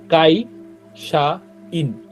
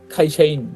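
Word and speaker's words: 会社員: সহজ শব্দ তারপর দেখেন কাইশা ইন এটার উচ্চারণ দেখেন এটার উচ্চারণও ক্ষয়ের মত হয় খাইশাইন মানে অনেকটা খাইসাইনের মত হয় পুরোপুরি খ না কিন্তু হ্যা জাস্ট হালকা ক খ এর মাঝামাঝি একটা সাউন্ড হয়তো খাইশাইন আর তো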